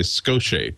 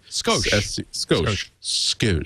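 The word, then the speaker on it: Scosche: This is from, I never pronounce this name correctly. Skoche. Skoche. You know, like a skosh more room, like those Levi's 501.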